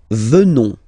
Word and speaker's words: venons: Nous venons, okay, O-N-S, classical ending for nous, okay, final S not pronounced, so O-N, on, venons, venons,